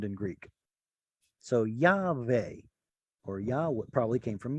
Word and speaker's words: Yahweh: How do you pronounce that? Well, there's a transliteration. Yahweh.